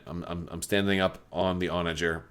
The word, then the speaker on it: Onager: know some of you I think the correct pronunciation is with like a hard G sound but I gotta go with like the soft J sound for oranger because it just sounds right to me so I apologize if